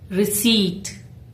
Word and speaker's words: receipt: Many people pronounce the letter P, but here it is silent. Correct pronunciation is receipt.